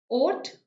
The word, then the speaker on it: haute: Haute, basically the H is silent, Tanvi.